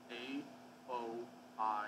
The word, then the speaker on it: Aoi: kept correcting someone because it was in Japanese A-O-I, and they kept saying I-O-E, No, it's Oi, isn't it? Or Aoi.